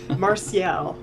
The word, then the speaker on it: Marcial: Jeff Year marzipan meringue madness that you mean Marcial I there you go I did it question